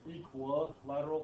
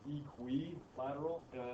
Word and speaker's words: equilateral: well this is a u a so it's pronounced differently than you would think okay this is you generally speaking people say equal lateral for some reason I don't know say equilateral but it's technically equilateral sounds really weird this is fun to say